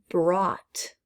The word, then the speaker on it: brought: that gh is silent brought i brought something um so again that's another gh that we don't hear khaki this is kind